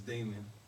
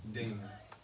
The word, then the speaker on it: Damoun: It's Damon. D-A-M-O-U-N. Damien or Damon? Damon. Damon. Like on Friday.